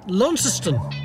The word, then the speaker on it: Launceston: Launceston.